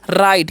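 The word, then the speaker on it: write: यू ठीक है और डब्लू आर आई टी है तो इसे राइट नहीं पढ़िए डब्लू यहां पर साइलेंट होता है तो हम क्या पढ़ेंगे राइट क्या पढ़ते हैं जी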